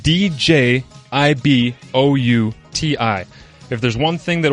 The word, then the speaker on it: Djibouti: it this way kids you don't listen to the d the d is silent and it's spelled d j i b o u t i if there's one thing